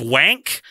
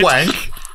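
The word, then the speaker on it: Wankh: He wrote Brainwave, There Will Be Time, but he also wrote a novel called what I can only assume is pronounced The Servants of Wank.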